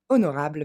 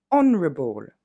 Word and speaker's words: honorable: Et enfin, honorable va se dire honorable. Et on le découpe ensemble, il y a un petit peu moins de syllabes que ce que vous pouvez penser.